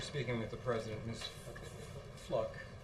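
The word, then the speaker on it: Fluke: Fluck, I believe is the correct pronunciation of her name, appeared on the Andrea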